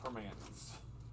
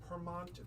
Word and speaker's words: Primanti: But it is not, when you live in Pittsburgh, it's Permanis, is what I'm trying to get at. Permanis. But it was so cute because everyone's like, Permonti, because it's spelled Primanti. So everyone's like, Pramonti Brothers. I said, no.